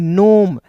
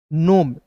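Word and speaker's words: gnome: जैसे आप देखिएगा जी एन ओ एम ई दिखेगा। तो इसे पढ़ेंगे नोम। जी को साइलेंट कीजिएगा। एन का न ओ है तो इसका उच्चारण ओ के रूप में नोम।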